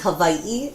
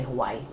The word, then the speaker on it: Hawaii: say it so um I think the proper way to say it is Havi it's kind of like a V sound Havi but you know a lot of people just say Hawaii is that where you